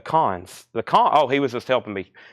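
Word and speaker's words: Cannes: The Canes? Is it not? The Cons.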